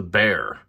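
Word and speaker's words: Bexar: Again, I'm going to repeat this a couple times, but it is called the Bear. It's spelled B-E-X-A-R, but it is pronounced Bear.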